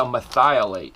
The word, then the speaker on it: merthiolate: This is a methiolate. If you've never heard of it, it's spelled merthiolate. Just say it real quick. It's methiolate trick worm.